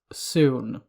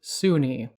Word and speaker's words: Sune: edition and Third Edition these books state that you pronounce the goddess's name Sunni however when reading the system agnostic title Ed Greenwood presents elminster's Guide to the Forgotten Realms this book states that both the pronunciation soon and soon are acceptable the later pronunciation being a more recent development in setting I come to just